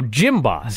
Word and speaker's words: Jim Boss: No, Jim Boss. Jim Boss. Like, you go to the gym.